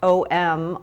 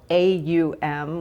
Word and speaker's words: Om: the om in yoga spelled om also aum which gives us sort of uh the way we can pronounce it in our um in our usage of it it is said to contain